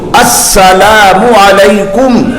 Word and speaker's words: السلام علیکم: نہیں ہوتا تو حضرت اسی وقت سلام کا تلفظ اس کا درست کراتے ہیں۔ السلام، حضرت پہلے ایسے یاد کراتے تھے، اتنا کہو السلام علیکم، السلام علیکم۔ اب کتنے لوگ السلام علیکم، یہ کون سا لفظ ہے؟